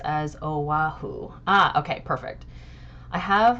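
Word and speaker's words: Oʻahu: Yes, it is pronounced as Oahu.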